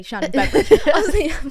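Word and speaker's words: Shannon Beveridge: Shannon beverage fan that is how you say shanon beverage wait you both don't know how to say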